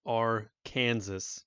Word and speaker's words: Arkansas: is Arkansas, because it's Arkansas, right? That's how you spell it. Why is it called Arkansas? There's no W in there. There's not like a saw. It's not like a freaking chainsaw.